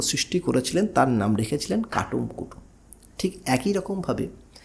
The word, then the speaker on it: কাটুম কুটুম: বেশ, আসুন এবারে আমরা যদি চলে যাই যে কুটুম কাটাম, তাহলে আমরা জানি যে অবনীন্দ্রনাথ ঠাকুরের একটি শিল্প সৃষ্টি আছে যার নাম হচ্ছে কাটুম কুটুম।